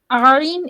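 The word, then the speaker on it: ع: আইন, এটা আরেকটু গলাটা চিপে আদায় হবে। আইন হা। জি। আর 3 নম্বর আইন হা। আইন হা, আইন হা। গলার মধ্যে একটু চাপ দিতে হবে। আইন হা।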